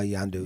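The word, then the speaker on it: Yondu: tell us about your character uh is it pronounced yandu yeah yandu yandu what can you tell us about this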